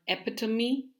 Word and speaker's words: epitome: Some more are epitome. It's not epitome, which is like it's commonly pronounced.